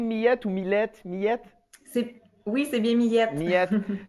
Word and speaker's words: Karine Millette: Est-ce que j'ai bien prononcé Millette ou Millette? Millette?